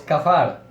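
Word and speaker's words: כָּפַר: Bien, en hebreo, la palabra propiciar es kafar. Kafar, así se dice, así se pronuncia.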